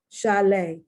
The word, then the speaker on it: chalet: Chalet, once again, French. Crochet, once again, French, the T is not pronounced.